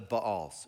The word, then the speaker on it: Baal: No sooner had Gideon died than the Israelites again prostituted themselves to the Baals, or the Baals. It's technically pronounced Baal.